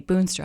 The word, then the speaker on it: Boonstra: I almost always say Boonstra, and then I automatically, before they ask, B-O-O-N.